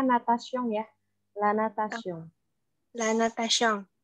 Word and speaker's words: natation: Sama satu lagi tadi aku lupa, yang ini bacanya natation ya.